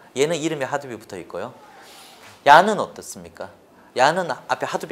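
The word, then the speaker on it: YARN: 뭐다 라고 하게 되면 여기 빨간색으로 되어있는 이렇게 발음하면 야 그렇죠 얀 됩니다 그래서 몇가지 가 있습니까 줘 정리하면 3가지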